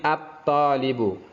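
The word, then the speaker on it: الطالب: Kemudian at-talibu, at-talibu, ta lamnya hilang menjadi at-to, bukan al tapi at-talibu, masuk ke syamsiyah.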